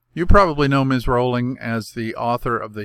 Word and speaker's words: Rowling: Rowling. And yes, I confirm that Ms. Rowling actually pronounces her name Rowling, not Rowling.